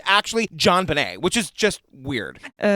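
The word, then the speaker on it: JonBenét: And I want to also say her name is actually John Benet. And I looked it up. It's a port manto of her dad's first name and last name. So, it's John Benet.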